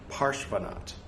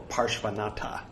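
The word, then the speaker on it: Parshvanatha: parshvanat porsche van not parshvanat or parshvanatta if you want to sound like a rube you don't pronounce the a's um unless they're talking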